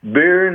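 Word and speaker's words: Berne: Burn is spelled b e r n e the same way it is in the in the city in Switzerland.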